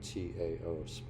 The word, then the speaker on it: Tao: and in the Dao Tao pronounced as as if it was spelled D O W.